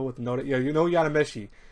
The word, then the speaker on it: Yadomeshi: Anyways, what do you guys girls think of episode 2 of this long show with no, yeah, you know, Yadomeshi is how you say the last part.